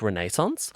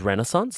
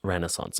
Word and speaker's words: Renaissance: And I used to say it like Renaissance, but she says Renaissance, so I'm saying it Renaissance, okay? That's how she pronounces it.